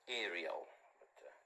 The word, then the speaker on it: Ariel: why God Called It Ariel uh modern people pronounce it as Ariel sounds like a washing powder you know it's still